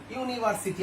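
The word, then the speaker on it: university: Vowel your মতো হয়েছে, কি অবশ্যই ইউর মতো ইউনিভার্সিটি আমরা বলি।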